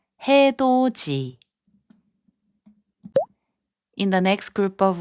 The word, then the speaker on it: 해돋이: 해돋이, which means sunrise, is pronounced as 해돋이.